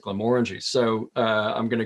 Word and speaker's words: Glenmorangie: could say back was the people that work there pronounce it Glam orangy so uh I'm going